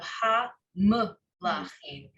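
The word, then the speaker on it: הַמְּלָכִים: If there were no shva there, I would view the first syllable in this word as ham. But because it has a shva, now you have ha-m-lachim. It makes it a separate syllable.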